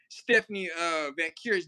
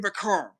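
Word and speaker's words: Stephanie Vaquer: In this case, I ain't like the way she pronounced Stephanie Vacura's name last night. I was like, nah, that wasn't cool. Stephanie Vacar, or whatever your name. I was like, that is Stephanie Vacura, not Vacar in this case.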